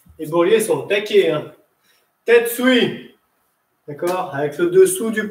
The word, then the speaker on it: tetsui: Tête suit. D'accord? Avec le dessous du poing. Ça s'écrit, c'est pas grave. Très bien. T-E-T-S-U-I. Tête suit.